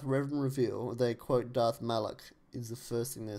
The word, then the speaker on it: Malak: I'm sure that's how you're supposed to pronounce his name, isn't it? That's the correct pronunciation of Darth Malak. It's Darth Malak.